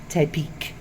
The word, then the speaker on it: Tepic: If you're Spanish speaking, it's Tepic.